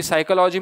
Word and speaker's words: psychology: आपका क्या होता है, साइकोलॉजी में पी साइलेंट होता है।